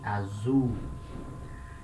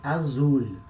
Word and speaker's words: azul: letter u we say azum you can say azul it's not wrong but it's not natural in a natural way of speaking we extend the sound of letter u we say azu notice it's not a